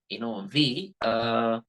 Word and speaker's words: V: So the letter V in English language must be pronounced with the help of lower lip, right? Like how you pronounce Vankaya in Telugu.